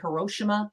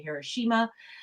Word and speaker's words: Hiroshima: the bombings of hiroshima i think americans say hiroshima here we say hiroshima we have walter koenig